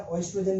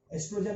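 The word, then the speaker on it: estrogen: अब इसको प्रोनाउंसिएशन ध्यान रखना, ओएस्ट्रोजन नहीं होगा, ओ साइलेंट रहता है। ये जो ओ है ये साइलेंट रहेगा। एस्ट्रोजन और प्रोजेस्टेरॉन, ये 2 हार्मोन सीक्रेट करता है, ठीक है।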